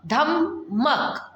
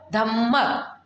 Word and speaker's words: धम्मक: ध्यान रखना है कि धम्मक धम्मक किस तरह से लिखा हुआ है. जैसे कि ध, आधा म, फिर पूरा म, क. धम्मक धम्मक. प्रोनाउंसिएशन कैसा हो रहा है? ध-म-क, धम्मक. और आता है और सेम